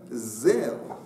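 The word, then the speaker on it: זר: Zain Reish, quand on le lit, ça fait Zar, étrange, ou étranger. Vekarinen Zer, mais on le prononce Zer en tant que couronne.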